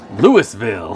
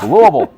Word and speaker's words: Louisville: what you did Baker bricks at least you pronounced Louisville correctly well thank you Louisville Louisville most people not from Louisville that I've met